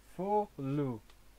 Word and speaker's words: Folu: Folu is the pronunciation according to the hiragana, katakana.